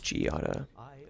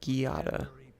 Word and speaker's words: Giada: Oh, it is Giada. I could have sworn someone said Giada, which is funnier way of pronouncing it.